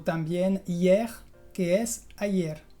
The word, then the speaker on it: hier: El primer caso es cuando la E está antes de una consonante final pronunciada. En general son palabras cortitas, por ejemplo, mer, que es el mar, o también hier, que es ayer.